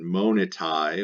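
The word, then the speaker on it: monitae: And then monitai with an AE pronounced I, the plural of monita.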